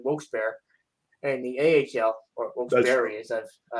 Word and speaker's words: Wilkes-Barre: in the AHL, or Wilkes-Barre, as it's apparently pronounced like that.